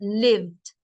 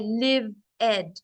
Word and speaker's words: lived: how you pronounce it because the E is silent lived so it becomes like that lived liked worked so the E is silent you cannot say live Ed you cannot make two